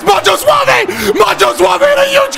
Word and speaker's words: Macho Suave: Why was I saying Mojo Suave? That's probably why we... Hold on, let me bet on him again, chat. I got his goddamn name wrong. That's Macho Suave.